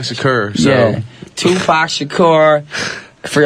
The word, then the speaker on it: Shakur: I thought his name was Tupac Shaker. That's what I thought his name was. And now you're a rapper, so now you know how to pronounce it. It's Tupac Shakur.